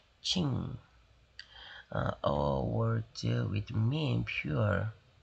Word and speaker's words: Qing: They called themselves the Qing 이렇게 발음하는 거예요. Qing.